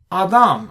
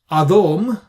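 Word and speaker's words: אָדָם: But we have here Adam. We don't say Adom, similar to Vayakom.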